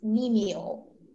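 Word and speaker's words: cnemial: Your word is menial.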